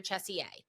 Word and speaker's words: CHSE: be working on your CHESE-A, which is the advanced. So again, for our listeners that are fairly new to this, CHESI or CHESE, it depends on how you say it.